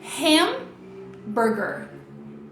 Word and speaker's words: hamburger: Então, fica hamburger. Hamburger. Hamburger. Beleza, então, o primeiro ponto de diferença é esse, né? A sílaba tônica começa aqui.